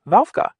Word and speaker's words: ławka: It's actually just the English W sound, like in the word will. So a word like ławka, which means bench, is pronounced wałka.